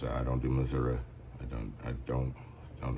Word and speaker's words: Missouri: to pronounce it like most M but um Missouri that's how I pronounce it I don't do Missouri I don't I don't don't know where that